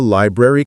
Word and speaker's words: library: Slowly say library five times, focusing on hitting both R sounds.